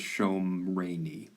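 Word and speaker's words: שָׁמְרֵנִי: When you get a cal imperative and you add a suffix, the first vowel will change to a comet sawtooth. So you actually pronounce this Shomreni ale.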